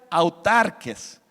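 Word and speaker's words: αὐτάρκης: Que se pronuncia autarques.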